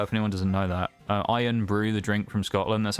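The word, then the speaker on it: Irn-Bru: actually how it's spelled it's spelled irn b i u so I guess it technically be pronounced N Brew but it's called iron Brew nbw we got sylvion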